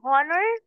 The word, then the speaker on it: honor: F here and honor H in h is silent here okay excuse me honey okay second example okay if H is silent are you going to read it an honor yes age is silent